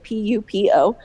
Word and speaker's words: Pupo: Pupo is not spelled like poop, it's Pupo.